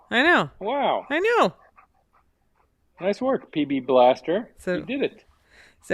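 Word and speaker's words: B'laster: me so it's pronounced Blaster and it's pronounced Blaster and uh the apostrophe doesn't mean a damn thing and if I if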